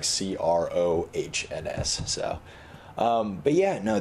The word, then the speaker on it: Crohn's: got it yeah I didn't know if it was Chrome's or Crohn's Crohn's with an N yeah it's it's spelled weird it's like CR o h NS and so but ya